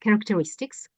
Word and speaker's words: characteristics: churches of characteristics yeah we pronounce CH as a cook here characteristics characteristic um sales students